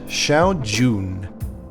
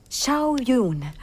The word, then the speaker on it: Shao Jun: It's actually just a young Chinese assassin, Xiao Jun. The film proceeds to pronounce her name incorrectly the entire time. Xiao Yun.